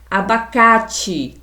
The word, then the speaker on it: abacate: Abacate também é o K do abacate é uma sílaba tônica e o A é uma vogal aberta porque ele é pronunciado com a boca aberta, com muita força e com muita intensidade.